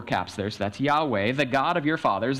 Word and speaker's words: Yahweh: And for some reason, a lot of them use Jehovah, which is a bad mispronunciation of Yahweh.